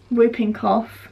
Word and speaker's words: whooping cough: doctor's and have my whooping cough it's not pronounced whooping it isn't it whooping but it's a silent W but I call it